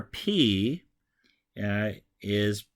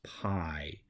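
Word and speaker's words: πι: would in the Latin alphabet so the letter P is oftentimes introduced to English speakers in math class as pi but it's actually pronounced P just like the same letter is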